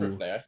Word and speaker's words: Rivne: Oh, it was Ooh, Rivne.